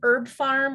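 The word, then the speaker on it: HerbPharm: Herb Farm, which is spelled with a P, I think, Herb, H-E-R-B, P-H-A-R-M, like pharmacy.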